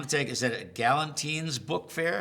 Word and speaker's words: Gallentine's: I now I'm I'm going to take Is that a Gallentine's book fair? How do you pronounce that? Gallentine's.